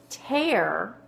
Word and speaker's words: tear: not ready pause it ter sounds like it has an A like as a long a right and that's because of this special sound right here EA R can say air like in bear ok I just wanted